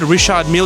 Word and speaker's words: Richard Mille: They're confirmed Richard Mille is exactly how you pronounce it, so I think that's one up for us.